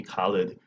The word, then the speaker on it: Khalid: It's just Khalid.